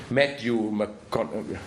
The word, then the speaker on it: Matthew McConaughey: So here it's Idris Elba, of course, who is the good gunfighter, and it's the, how do you pronounce the name? Matthew McConaughey.